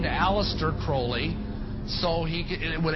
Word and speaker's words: Crowley: about with aleister crowley he likes to bring have his name pronounced crowley to rhyme with holy and uh the satanists